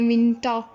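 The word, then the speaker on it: Winter: pronounce कर रहे हैं विंटा, यहाँ पे हम लोग इसको प्रोनाउंस आर को नहीं करेंगे, ये जो है आर साइलेंट हो जाएगा, लेकिन जबकि इंग्लिश में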